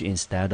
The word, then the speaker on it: instead: instead 啊，我们看看它的音节啊，一个母音 i，另外有一个呢是双母音 ea，在这边我们念成 a 的音。好，所以这个字的音节呢，我们先分看看，第一个念成 in，第二个呢念成 stead。好，那 instead 啊，中音节我们落在第二音节，我们念成 instead。那各位这边要提醒一下同学，它的词类是属于副词。好，那它有一个同义字呢，叫做 rather，我们中文翻成代替、反而。好，我们来看第一个例句。Can I have a beef sandwich instead of a cheeseburger?